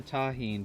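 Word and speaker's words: Tajín: a little bit of Tajin right don't go pronounce the tahin but not Taki don't go too crazy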